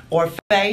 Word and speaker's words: Orfeh: Or Faye. Maybe someone will find Tommy. Me pronounce mine correctly.